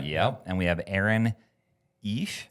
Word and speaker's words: Eish: And we have Aaron Eish. Ish. Rhymes with fish.